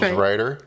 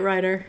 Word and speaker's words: Knight Ridder: Well, they did for 1 year, and then they sold it to a company called Knight Ridder, is how it's spelled, but they're calling themselves Rider. Is it Ritter?